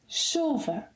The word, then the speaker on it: chuva: So here we have chuva. The correct pronunciation is chuva. Chuva, with the stress on the second syllable to the last, meaning that the final A is unstressed. Chuva.